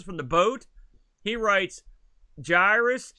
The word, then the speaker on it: Gyruss: the boat he writes jairus it's pronounced guy r us he says which i disagree it's probably the best arcade conversion on the atari twitch 600.